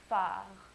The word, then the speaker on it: phare: PH is pronounced like an F. And an example of that sound would be phare, which means a lighthouse, phare.